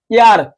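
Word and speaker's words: heir: যেরকম আওয়ার, ঠিক আছে, অনেস্ট, অনার্স, ইয়ার, এটা কি বলতো? এই যে ইয়ার, এটা কিন্তু হেয়ার না, এটা কি ইয়ার, ঠিক আছে ভাই?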